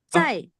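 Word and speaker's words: 在: Kalau misalkan saya mau bilang saya tunggu tunggu swe W kalau saya mau bilang saya di sekolah Susai ini bacanya cai.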